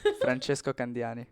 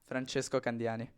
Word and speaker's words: Francesco Candiani: But wait, what is How do you pronounce it? Franchesco Kandani. That's exactly what I said. No, not for me. One more time. Franchesco Kandani.